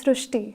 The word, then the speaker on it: Srushti: Sir, in Marathi, the word "r" is pronounced as "ru". So, that is why the pronunciation goes Srushti.